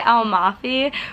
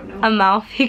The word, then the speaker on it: Amalfi: say it Gabby cuz we always say alfi but it's actually a amaly a moufy coast oh my anyways we